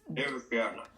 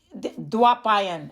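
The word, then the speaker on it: Dwaipayana: It's Devapyana. Dwapayan, actually. That's how you say it.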